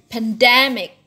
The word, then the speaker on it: pandemic: So you can pandemic. Pandemic like in academic.